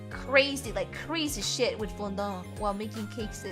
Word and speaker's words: fondant: I don't like fondant. I don't know how to pronounce it. Fondant. I just pronounce it like the French way.